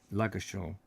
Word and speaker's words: Ludgershall: No D. Right, Ludgershall. Although it's spelt with a D, isn't it?